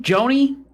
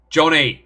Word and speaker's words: Johnny: Joni? Johnny, say it right or don't say it.